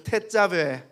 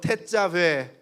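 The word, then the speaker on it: תצוה: 태자베. W 발음이기 때문에 아랫입술을 긁어야 돼요. 왜? 다시 한번 태자베.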